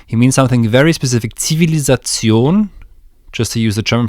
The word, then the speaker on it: Zivilisation: Zivilisation, just to use the German pronunciation, civilization is when the great culture has